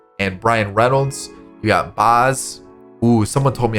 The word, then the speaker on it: Baz: comment all right so someone told me it was pronounced like oz in the wizard of oz so it would